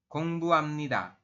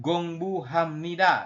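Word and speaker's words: 공부합니다: apa Belajar artinya ya gongbuamnida Jadi bukan gongbu Hamnida tapi gongbuamnida seperti itu untuk pelafalannya yang ini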